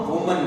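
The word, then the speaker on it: women: उसी तरीके से अगर कोई एक महिला है तो उसको हम वुमन बोलेंगे, और एक से ज्यादा महिलाएं हैं तो उसको हम विमेन बोलेंगे।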